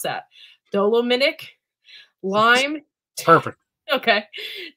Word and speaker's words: dolomitic: I don't know how do you pronounce that? Dolomitic lime.